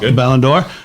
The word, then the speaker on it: Ballon d'Or: we're also going to talk about the uh ballon d'or award is that that how you pronounce it or yeah ballon d'or i'm going to say we talk a little